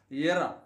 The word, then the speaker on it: error: Mirror or error. Error. Whereas the Americans always pronounce R even if it comes at the end of a word.